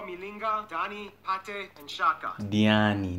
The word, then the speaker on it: Diani: Diani, not Dani, Diani.